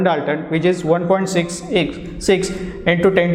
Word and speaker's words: Dalton: लिहिलं कसं जातं 1U असं लिहिलं जातं आणि it is pronounced as 1 Dalton, 1 Dalton, and it is given